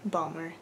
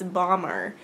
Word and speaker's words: Bomber: I realize I keep saying it balmer, it's bomber. I'm pronouncing it strangely, so if you notice that I said it weirdly, I apologize, but I do know it is bomber instead of balmer.